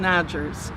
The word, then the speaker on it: Odgers: My name is Odgers, O-D-G-E-R-S. Kind of rhymes with Rogers.